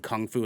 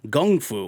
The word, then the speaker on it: kung fu: Now just to clarify, the difference between kung fu and gung fu, they're technically the same, but there was a translation error when kung fu, or when gung fu, which is like the actual way it's pronounced, was brought to Western civilization.